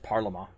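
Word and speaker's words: parlement: parliament which is actually parliament p-a-r-l-e-m-e-n-t but it's pronounced parliament there was originally one parliament and it was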